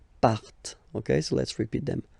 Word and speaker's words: partent: Remember, classic ending, ent, but then you don't pronounce them, partent. Partent.